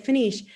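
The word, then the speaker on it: Peniche: trails and bridges and paniche i can't remember how you pronounce it yeah yep you said it perfectly it's finished okay um so that's called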